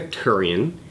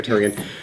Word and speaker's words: Therrien: again cuz battery died turian I've been saying your name wrong all these years what we got it right therrien you are the Center